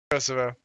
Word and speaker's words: Kosovo: How's it actually pronounced? Kosovo.